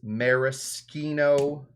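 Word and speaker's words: maraschino: think that the uh the proper way to say it is measino leure because I do think that that's how you know when you read Italian when you see a CC together it's a ski I think.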